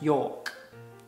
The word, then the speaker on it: York: Yeah, don't pronounce the R, just York.